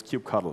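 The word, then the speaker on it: kubectl: is for everyone everywhere no matter how you pronounce these clis and it's cube cuddle in case you were wondering so we've got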